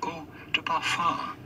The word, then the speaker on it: eau de parfum: Ou de parfum. It would be fine in English or American to say eau de parfum.